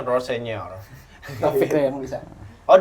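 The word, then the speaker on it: Rosenior: Gimana bacanya? Rossenior.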